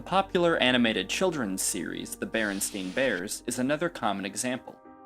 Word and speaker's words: Berenstain: The son of one of the authors in an interview said barely anyone pronounced it correctly while he was growing up. They always called him Berenstein or Berenstein.